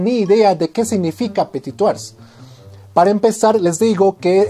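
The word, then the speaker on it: Petit-Thouars: idea de qué significa petit tours para empezar les digo que es un apellido francés y se pronuncia su apetito la s al final es muda no se pronuncia el nombre completo de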